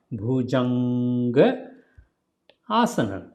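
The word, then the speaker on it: Bhujangasana: Bhujanga Asana. Bhujanga Asana. If you put together, then it will be sound like Bhujangaasana. So then it will be pronounced Ga when you say together. Asan and Bhujang when you say together. Then 2 A's will come together. Then it will become big sound. Otherwise, small sound.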